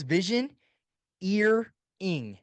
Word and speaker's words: Visioneering: Yeah, it's called Visioneering by Andy Stanley. How do you And spell that? Because I'm hearing three things all at once, yes, so it's vision, ear, ing. So like vision, mountaineering. yeah, vision, and then Vision ear, Eering, right?